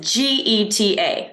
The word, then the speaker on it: Geta: It's pronounced like the car.